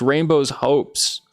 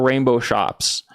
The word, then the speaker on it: Rainbow's Hopes: It's Rainbow's Hopes, not Rainbow Shops."